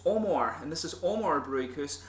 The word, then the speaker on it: Amager: to Sweden, and I finally realised how to pronounce the name right. Thank you to Morten at Ølbutikken for telling me this. It's Amager, and this is Amager Bryghus, and we're going